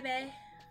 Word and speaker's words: Bea: her name is beatric some people pronounce the Bea be oh beia no we're calling her Bae see exactly so b b makes more sense yeah how's it going got